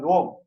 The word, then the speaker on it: Om: So if we pronounce it Om as Om in 1 second, that it denotes Rig Veda. That means we have understood, we have recited. Then we say the same pranava syllable Om in 2 seconds.